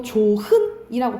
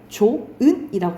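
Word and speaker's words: 좋은: 발음할 때 우리가 봐봐 이거 조흔이라고 발음 안 하죠 어떻게 발음해 조은이라고 발음하죠 그렇지 이것은 히읗이 뭐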